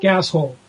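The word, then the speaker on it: GasHole: Gas Hole. Rhymes with asshole.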